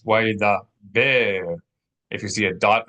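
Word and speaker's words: וַיְדַבֵּר: So instead of why da ber, it's why da ber.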